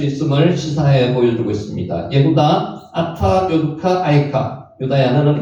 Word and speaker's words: 예후다: 예후다, 예후다가 유다를 원어로 발음한 겁니다.